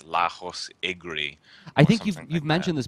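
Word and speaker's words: Lajos Egri: I do not want to pronounce his name. It's Lajos is his first name. It's Lajos Igri.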